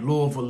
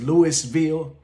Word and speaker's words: Louisville: Anybody who you meet from Louisville, and if you ever meet somebody who says Louisville, you know they're not from Louisville. Everybody from Louisville pronounces it exactly how I'm saying it.